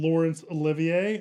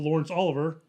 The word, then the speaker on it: Laurence Olivier: is starring and directing lawrence olivier i think it's how you say his name yeah he doesn't want to be called lawrence oliver nope no one does